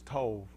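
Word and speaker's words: טוב: They're going to spell it T-U-B, tub, pronounced tube, and then it's saying it's tov. It's tov.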